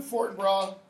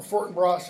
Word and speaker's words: Fortinbras: a plane to Denmark enter fort bra or Fortinbras if you want pronounce it that way with his army over